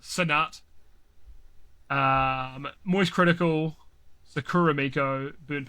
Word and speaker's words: Cenat: Content creator of the year, we got Cadril, we got Kai Cenat, we've got. I probably pronounced that also very wide. I think people pronounce it Sinat.